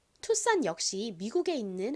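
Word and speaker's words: Tucson: 산이라고 발음이 되는 겁니다 이거를 잘못 읽으면 스콘 뭐 스콘 뭐 여러 가지로 이상하게 읽을 수 있는데요 어 산이라고 읽는다는 거 기억해 주세요 투산 역시 미국에 있는 한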